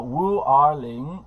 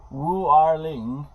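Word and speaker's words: 五二零: Now, 5 in Chinese is Wu, 2 is Er, 0 is Ling. So Wu Er Ling, and how do you say I love you in Chinese? You say 我爱你. So apparently Wu Er Ling and 我爱你 sound the same.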